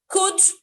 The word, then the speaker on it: could: is world um but there are some words that you don't need the lateral the lateral is silent there are a number of them three could would should so it's not called